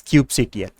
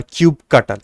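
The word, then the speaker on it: kubectl: about this one thing called as cube CTL Cube CTL or cube cutle however you want to pronounce it is the CLI tool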